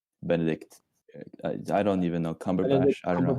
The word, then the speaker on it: Cumberbatch: I remember my favorite way to mispronounce his name is Benedict Cucumberbatch. Benedict. Benedict Cumberbatch, right? That's what his real name is, right?